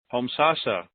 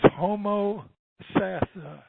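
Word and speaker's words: Homosassa: seen it so many times and I can pronounce it. Homsasa. Come on down. You'll get it right one of these days, Jerry. How you doing? It's Homo Sassa.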